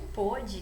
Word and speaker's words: pôde: E depois nós temos o pode e o pôde, né? Nós temos aí até uma diferença na pronúncia, que é marcada, né, pela presença, então, do acento diferencial.